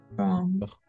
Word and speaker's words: prendre: Oui, à chaque fois, si le mot est écrit avec EN, d'accord, EN, on va prononcer on. Par exemple, ici, pas descendre, descendre. Ici, pas prendre, prendre. Si está escrito EN, en francés vamos a pronunciar siempre ON, así nasal, on.